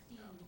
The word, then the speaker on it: Dean: spelled with an I. Last name is Dean, D-E-A-N.